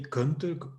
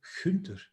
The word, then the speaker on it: Gunther: on the planet that have this soft G. So we don't say Gunther or whatever, we say Gunther.